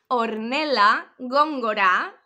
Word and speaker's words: Hornella Góngora: Repeat after me because no one is pronouncing this name correctly. Hornella Góngora, okay?